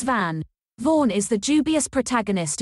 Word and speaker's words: Van: Van or Vaughn, what are we doing? I'm partial to Vaughn because of the vision of Escaflowne, but... Okay, FakeNet, how do you say it? Initializing FakeNet. Van. The boy's name is Van.